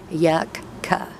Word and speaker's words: yucca: I pronounce it to put the K at the end of the first syllable and a k at the beginning of the second yuck C that way I know